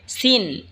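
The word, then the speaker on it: س: এরপর হলো সিন। সিন জিহ্বার আগা সামনের নিচের দুই দাঁতের আগার দিকে লাগা উচ্চারণ হবে সিন। এই ঝা যেখান থেকে উচ্চারণ হয়েছে সেখান থেকেই সিন উচ্চারণ হবে।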